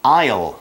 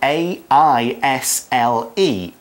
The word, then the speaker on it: aisle: church it is the aisle and this is a tricky one because it's spelled differently from how it sounds right it's spelled a I SLE aisle okay so don't forget